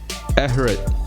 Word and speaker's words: Ehret: with another talk this time we've got Everett that is how you pronounce it is that right that that's